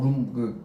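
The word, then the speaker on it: רום: 나옵니다 눈이 높다는 것은 히브리어로 룸이라고 써요 눈 영어 룸 방 그거랑 같은 발음 같아요 이게 뭐냐면 비행기를 탄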